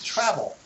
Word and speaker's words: travel: How about the word travel? Travel. Okay, so in travel, it's another two-syllable word. The stress is on the word, on the syllable, the first syllable, tra. The second one is vol, vol.